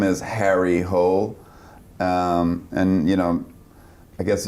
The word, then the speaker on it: Hole: character's name is Harry Hole. And you know, I guess you don't want to go into the Harry Hole. you want to, so they're trying to repronounce it like Hule, hole.